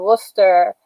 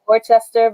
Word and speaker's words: Worcester: And I will be in Worcester, I call it Worcester, but because that's how I see it spelled, but they say Worcester in Boston.